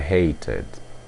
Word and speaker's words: hated: hate passado fica i hated i hated isto porque o verbo termina com som de T você pronuncia como for ID ID i hated i hated